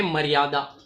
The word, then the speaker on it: मर्यादा: इसे और बेहतर समझने के लिए हमने और एक शब्द चुना, वो है मर्यादा। आपने ध्यान दिया कि म के बाद एक आधा र का एक उच्चारण निकल रहा है।